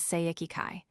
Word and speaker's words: Seiki-kai: The Chinese title is pronounced by Japanese as Seiki-kai.